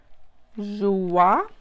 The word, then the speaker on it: Joie: I think Joie is how you pronounce this brand. Joie. Anyway, you guys know the brand, J-O-I-E, Joie.